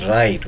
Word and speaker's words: write: W, here W becomes silent in WRING. Ring and write, we are quite familiar with the word write.